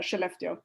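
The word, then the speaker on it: Skellefteå: it's uh how it's how you pronounce it it's it's almost like she left you that is actually how you pronounce uh cheleftio so uh we are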